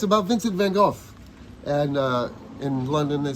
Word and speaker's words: Van Gogh: But so what is the actual pronunciation? It's Van Gogh.